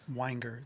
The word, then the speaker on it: Weinger: It's just Weinger. It's just bottle of wine. Weinger.